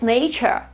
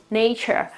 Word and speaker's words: nature: It means that, yeah, we know there should be an R there, but we don't really pronounce it.